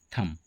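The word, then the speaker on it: thumb: एच यू एम बी इसे हम लोग क्या कहते हैं? थंब है ना पर यह भी गलत हुआ। थंब इसका सही उच्चारण नहीं है। इसका सही उच्चारण है थंब।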